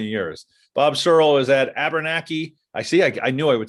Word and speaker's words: Abenakee: Bob Searle is at Abenakee. I knew I would say it wrong. I always put an R in there. Abenakee Club up in Maine.